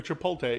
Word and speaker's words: Chipotle: other day was saying it's a rumor a Chipotle is the pronunciation yeah the other day was saying I